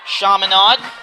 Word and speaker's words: Chaminade: Chaminade. Okay. Mispronounced that at first, but it's Chaminade Madonna Lions, both tied for first.